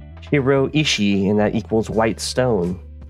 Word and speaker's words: shiroishi: Greensuit that it said it's pronounced shiroishi, and that equals white stone.